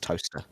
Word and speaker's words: Towcester: For those not in the know, it's spelt Towcester, but it is pronounced Toaster.